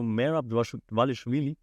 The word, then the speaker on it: Merab Dvalishvili: And if you compare this to Merab Dvalishvili, that's how you say his name, Chelson.